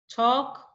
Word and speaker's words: talk: Amand salmon have walk talk would okay so remember these are silent L words you don't pronounce the letter L like this we have